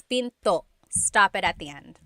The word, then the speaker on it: pinto: p p and remember don't forget the glot stop don't forget to stop the sound at the end that's called a gladle stop p Pinto it's not Pinto it's Pinto stop it at the